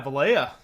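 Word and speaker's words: Valaya: Yeah, Valya.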